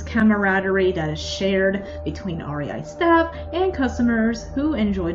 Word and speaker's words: REI: It's not REI, as in REI from the recent Star Wars trilogy, or a ray of sunshine. Oh, no, no, no. Admittedly, it's my mom, who I've mostly heard this from. But anyway, just spell it out. This is the way. R-E-I. Say it with me.